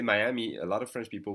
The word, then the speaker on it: Miami: they sound for instance the city of Miami is going to be pronounced Miami okay Miami and if you say Miami a lot of French